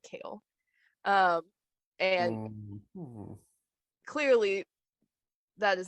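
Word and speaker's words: Chaol: Like, obviously it's spelled like chaos, but with an L, so you should be able to pronounce it Kale.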